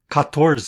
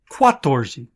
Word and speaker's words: catorze: And instead of saying 14, the way I learned it, catorze, the country people pronounce it quatorze.